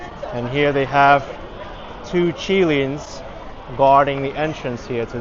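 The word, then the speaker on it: qilin: This is a mythical creature, the Chilean or the Kirin. I think Chilean is more of the Chinese pronunciation. Kirin, maybe from romanticized pronunciation.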